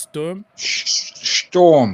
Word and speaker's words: Sturm: That's how it's pronounced. Sturm. Storm. Oh, you have to put it like okay. Sturm. Oh, right. Storm Graz. Okay. And if you hear the I'm German, learning Germany here, bro.